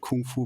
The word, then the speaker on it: Gongfu: I guess I call this a Gongfu Crew podcast, but most people don't understand that Gongfu is the actual pronunciation, that is how it should be pronounced.